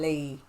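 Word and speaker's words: 이: L, but when you're pronouncing Lee for Korean, it's actually E, so it'd be E Taemin. But when it's translated to English, they call it Lee.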